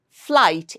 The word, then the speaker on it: flight: Flight. Again here as if the spelling is F-L-A-I-G-H-T. But do we write it that way? No, that would be a wrong spelling. But the pronunciation is F-L-A-I-G-H-T. Pronunciation is that of F-L-A-I-G-H-T. There is a A-I hidden sound there. So it's a long vowel sound.